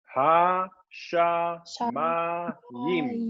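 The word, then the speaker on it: השמים: And then how you pronounce heavens in Hebrew. Ha und dann wie spricht man Himmel, also die als Plural, ne? Himmel aus in Hebräisch? Die Himmel? Ha, sha, ma, yim.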